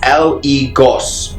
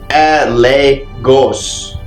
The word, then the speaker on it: Eligos: the description now so eligos pronounced as le ghosts or la ghost is a spirit of